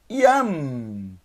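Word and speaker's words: ים: Yam, uma sílaba só. Yam, Yud, Kametz e mem sufit. Essa é a ordem, ó. Yud, passa pelo Kametz e termina no mem sufit.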